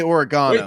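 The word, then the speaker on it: oregano: you're good on food the British say oregana there is Burrito little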